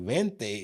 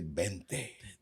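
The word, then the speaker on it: veinte: Like Vente is spelled with that V, but you hear them say Bente.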